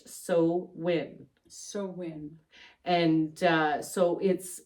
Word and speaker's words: Samhain: holiday is Samhain, which is Halloween, but it's spelled Samhain, but pronounced So- Irish Samhain.